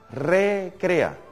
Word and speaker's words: recrea: el espíritu que nos recrea esa palabra hay que pronunciarla bien recrea porque si la pronuncio seguido queda que el espíritu nos recrea en el sentido que nos distrae nos entretiene y no estamos hablando aquí